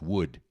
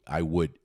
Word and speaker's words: would: Would, would, I would, I would, would, would. Só que madeira é W, O D, Wood, OK? Mas o som é o mesmo. São palavras homófonas, tem o mesmo som, meus lindos.